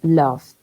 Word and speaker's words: loved: Se borra la E, no se pronuncia la E nunca. Love, le agregas la D. Love, ahí está sin D. Loved.